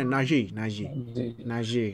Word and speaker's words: Najee: Nah, tapi kalau misalnya mulai load-nya dibanyakin ke Najee kalau sini, sana bacanya Najee.